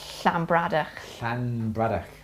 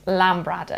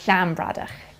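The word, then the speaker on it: Llanbradach: b r a d c h and it's slambradar yeah some people pronounce it lambrada because it starts with a double l but it's shambrada so double so um uh lake in welsh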